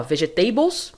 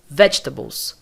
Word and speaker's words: vegetables: você ouvir a palavra você vai perceber que é aqui que é a sílaba mais forte portanto nós vamos nós vamos falar assim ó vegetables vegetables esse G não é pronunciado como G é esse o som É como se eu falasse Vet Tabo vegetables E olha que a diferença que dá né ó vegetables errado vegetables correto percebeu Então nós não